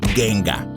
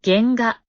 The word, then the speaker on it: genga: para empezar recalcar que no se pronuncia genga se pronuncia genga y sus características son